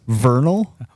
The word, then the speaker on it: Vernal: there the town would be even smaller um Vernal September 22nd through the 24th I'm sorry you didn't say that correctly can you repeat that name again Vernal thank you Vernal Vernal Utah that's how I